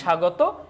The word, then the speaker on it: স্বাগত: তার মানে এই যে স্বাগত এখানে কিন্তু তোমার ব ফলার উচ্চারণটা আসলে হচ্ছে না এরপর আমরা দেখতে পাচ্ছি